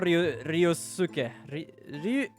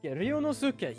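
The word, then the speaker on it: Ryunosuke: We are Ryosuke. Hold on, how the fuck do I pronounce that? Ryonosuke.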